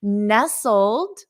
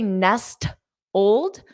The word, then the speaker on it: nestled: nestled you don't say Nest Old so nestled Nest Old nestled nestled the t is silent so here are the